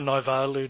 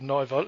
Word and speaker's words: Naivalu: They've got some sort of Sefa Naivalu, Naivoro.